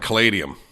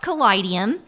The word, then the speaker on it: Kaleidium: own it is pronounced kidum and the way that I really like to talk to people about that is that it's the combination of the word kaleidoscope and Museum and for us a